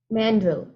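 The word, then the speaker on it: mandrill: of the male mandrel Africa's largest monkey species mandrel am I pronouncing the word correctly sounds about right mandrel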